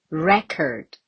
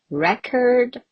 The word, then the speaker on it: record: okay if you say record also record so both correct but still the the most important thing is to place the stress mark over here so that is record or record but when it comes